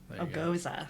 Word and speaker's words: Gose: say then oh yeah it says on the wet back of the Westbrook and pronounced goes uh agosa yeah yeah I I